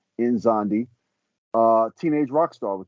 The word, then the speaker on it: Nzondi: It's pronounced like Enzondee, Nzondi.